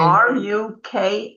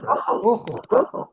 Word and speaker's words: Rukhl: So I also wanted to mention when I spell my name Ruchel in English, I spell it Rukhl. No E, because we don't have vowels basically in Yiddish. You're spelling it R-O, but you're saying Rukhl.